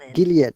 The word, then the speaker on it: Gilead: names okay gideon gillette gilead actually not gillard gilead okay these waters are